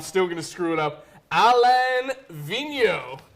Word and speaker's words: Alain Vigneault: orange banner I have been working on this pronunciation all day and I'm still gonna screw it up Alain Vigneault Alain Vigneault yeah should my man av be the NHL